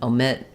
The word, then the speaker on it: omit: Omission um um Etc where that o is unstressed in the first syllable it's going to lose some of that Clarity and it's going to lose some of that dip thong quality um hopefully I said